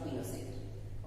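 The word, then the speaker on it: Pinochet: बना, वो प्रेसिडेंट आपका पिनोशेट बना। जनरल अगस्टो पिनोशेट फुल नेम है, प्रोनाउंस में पिनोशे कहा जाता है इसको।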